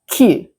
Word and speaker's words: queue: Five letters, but the pronunciation is really simple. Q. Repeat after me. Q. Now, a lot of learners see all these letters, and they try to pronounce too much. But in this word, all the letters are silent, and it sounds exactly like the letter Q.